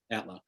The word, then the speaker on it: Outlaw: i should say yeah is it antler or is that the right way to pronounce your last name yeah outlaw mr allen mr lee